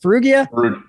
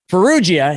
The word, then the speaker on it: Ferruggia: Ferruggia? Ferruggia.